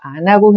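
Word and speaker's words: アナゴ: 겁니다 바닷 장어에 속하는 붕장어는 일본식 발음으로 아나구입니다 아 다들 들어 보셨죠 1m 정도까지 클 수 있고 잘게 썰어서 아나구 회로 많이 먹죠 붕장어는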